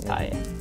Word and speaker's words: Tai: Tai. So two syllables in Japanese. Tai.